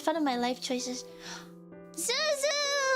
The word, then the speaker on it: Xuxu: There's like a fruit called Zuzu, and it's spelled XUXU.